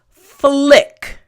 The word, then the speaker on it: flick: pause really quickly because the pronunciation may be a little bit tricky here we go flick there you go front teeth bottom lip and then immediately your tongue for the L sound needs to touch the roof of your